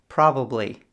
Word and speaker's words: probably: With B, you need to make a sound. With P, you only push air out. B, P. So you can see the difference when you understand the pronunciation of B and P. Probably, properly.